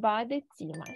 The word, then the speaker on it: Badezimmer: Так, тут у нас «е», воно в нас тут читається. Das Badezimmer.